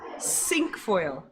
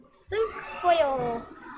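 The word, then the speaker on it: cinquefoil: it up really close sink foil sink foil because oops because it has five the flowers have five petals so i know how do you say five in french okay um one more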